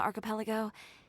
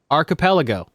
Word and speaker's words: archipelago: master tailor on the archipelago. You could say I really tried their patience. Yeah, good. Also, Kenna, look, it's the word. Archipelago. That's how you say it. Not archipelago.